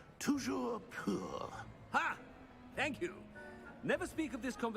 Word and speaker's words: Toujours pur: I order you to pronounce it for me. But Master knows that Scrope's French is most pitiful. Very well. Toujours pour? Toujours pur.